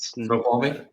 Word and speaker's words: Snoqualmie: The whole area of, and I'm going to butcher these names. I think it's like Snoqualmie. How do you say it? Snoqualmie?